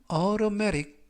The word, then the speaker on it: automatic: 이때 T 발음들이 트가 아니라 그래서 automatic보다는 automatic 이라고 발음하시면 좋겠습니다.